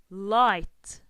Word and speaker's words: light: me sound ah ah so here the G and H is silent and if they are